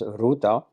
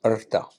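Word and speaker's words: ṛta: neither Dharma nor mosa it is AA usually pronounced in India as Rita or in South India as Ruta but actually pronounced AA it uh is derived from a verb meaning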